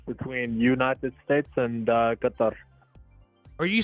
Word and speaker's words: Qatar: United States absolutely where are you from originally Qatar you're from Qatar yes did I did I